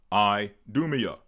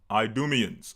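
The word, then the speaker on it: Idumea: elder twin brother of Jacob hence the region Idumia. So that's another term you'll hear us use Idumia or the Idumians. Idumia being the Greek word or the Greek pronunciation for Edom. The Greeks called him Idumians or call the the area Idumia.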